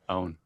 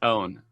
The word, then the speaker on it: Eoghan: It's pronounced so kind of like O-H-N, own. Wait, you lagged right as you said it. Give it to us again. What is it? It's pronounced own. Basically own.